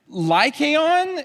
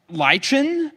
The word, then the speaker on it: Lycaon: Lycaon is like the animal, and I will not pronounce this correctly, but it's like Lichen is the like Greek or something like that.